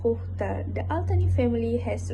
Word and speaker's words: Qatar: It's pronounced Khokhtar.